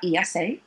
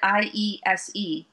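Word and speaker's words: IESE: will also be uh esa how can i forget my beloved esa i guess i should call it i-e-s-e for you guys who don't pronounce it the spanish way yes i-e-s-e is coming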